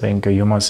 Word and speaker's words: humus: But humus is the correct pronunciation.